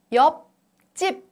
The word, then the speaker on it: 옆집: In the first syllable, the last consonant is P sound. It doesn't sound as it is. Its representative sound is P sound. And P affects CH sound. And then CH becomes CH sound.